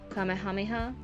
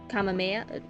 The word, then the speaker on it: Kamehameha: Kamehameha? I know the Dragon Ball Z thing, they use it, and it's the Kamehameha, but that's not how it's said in the culture that it was taken from.